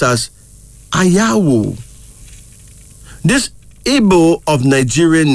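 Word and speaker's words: Anyawu: That's A-N-Y-A-W-U, pronounced as Ayawu.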